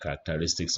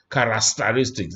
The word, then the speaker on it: characteristics: Matter how pronounce it, it's not characteristics. Because I hear quite a number of people say characteristics. There's no S after that, it's characteristics.